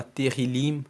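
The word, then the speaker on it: תהלים: o livro de Salmos se divide, se chama Terrilim no hebraico. Terrilim se escreve T-E-H-I-L-I-M, significa louvores.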